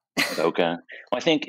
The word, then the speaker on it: bokeh: Does any photographer actually know how to pronounce that? Bokeh. Bokeh.